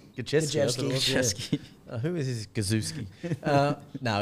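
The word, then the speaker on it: Gosiewski: Gajewski. Who is this Gazewski? No, he's a pass. Why not just call him the Goz? He's the Goz. Think of jet ski. Jet ski.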